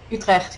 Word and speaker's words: Utrecht: So, how long was your sorry, I'm gonna pronounce it horribly. Utrecht? Utrecht, yeah.